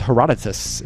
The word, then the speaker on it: Herodotus: all right answer from air correct answer is Herodotus I'm saying it correctly Father history baby I